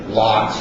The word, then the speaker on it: LOX: Liquid oxygen systems, also abbreviated capital LOX or pronounced LOX.